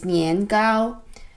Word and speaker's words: nian gao: the southern china in the late 1900s mandarin pronunciation which as i said is nian gao which nian means sticky gao gao is cake